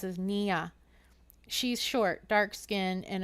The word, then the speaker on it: Nina: He pronounces it Nia.